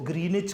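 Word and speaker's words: Greenwich: करीब एक कस्बा है ग्रीनिच लिखा विच जाता है लेकिन डब्लू साइलेंट है इसको ग्रीनिच कहा जाता है आप जब अपना टाइम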